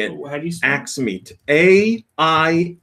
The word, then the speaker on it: AiXmeet: confirmed 8 times that's how you say it axe meet a I X ma et 101 is well